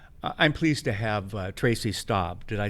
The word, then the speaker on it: Staab: I'm pleased to have Tracy Staab.